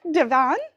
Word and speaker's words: Divan: i do have a very special guest charming devon i'm sorry did i say your last name wrong no it's perfect divine is right a